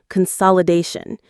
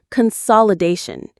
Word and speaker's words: consolidation: background, a process called consolidation. Let's pause on that word. Consolidation. Consolidation. Consolidation. The main stress is on da, consolidation.